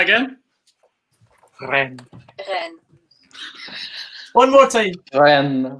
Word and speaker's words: Rennes: He's typing in fucking Google pronunciation right now, isn't he? Yeah, he definitely is. Rennes. Good job from Rennes. Let's hear that again. Rennes. One more time. Ren.